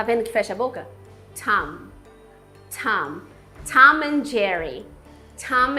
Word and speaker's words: Tom: Então quando tiver um M final no inglês, você tem que encostar os seus lábios, fechar a sua boca. Him. Tenta pronunciar essa palavra aqui em voz alta agora para praticar. Him. O nome Tom, que nem a gente fala o Tom e Jerry, em inglês a gente fala Tom. Tom.